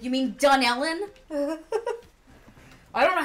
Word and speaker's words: Dunellen: When you go to Philly, if you say anything about this area, it's Metuchen and Dunlin. Dunellen.